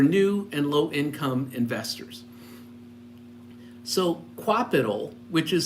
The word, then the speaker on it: Qapital: So Qapital, which is spelled Qapital, uses a if then then that scenario to help you with your investing.